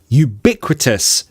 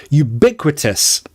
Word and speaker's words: ubiquitous: we've got two a two ubiquitous pronunciation don't get this wrong you you ubiquitous stress on bit ubiquitous ubiquitous what does it